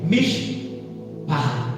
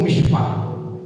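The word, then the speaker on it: מִשְׁפָּחָה: A palavra família se pronuncia, no caso, mishpah, ou mishpah. Essa palavra mishpah, eu trouxe uma breve tradução do que ela seria.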